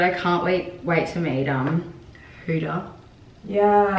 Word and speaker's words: Huda: Oh my god, I can't wait to meet Huda. Yeah. Is it Huda or Huda? Huda. Well, like Huda? Yeah, in Arabic it's a different pronunciation.